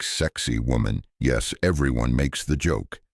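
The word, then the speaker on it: Sacsayhuamán: But whatever it is, it's called sakiwaman, pronounced something like sexy woman.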